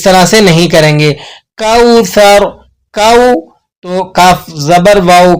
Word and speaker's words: کوثر: بول سکتے ہیں، بہرحال اس کا تلفظ ہے کوثر، آپ نے اس کو سا سے ادا کرنا ہے۔ قرآن مجید میں جب